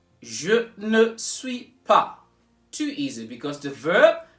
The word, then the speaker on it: pas: Notice that the S in this pas is not pronounced at all. It's not pas, it's pas.